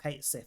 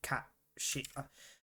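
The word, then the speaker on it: Cait Sith: so they're all the same I forgot about Kate Sith as well which is not how you pronounce it I'm pretty sure it's cat she I believe it's cat she because it's based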